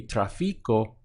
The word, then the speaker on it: tráfico: so traffic would be traffic Oh notice that we have an accent over the a so it would it be traffic Oh but here we stress the a so traffic Oh up the front and it's ending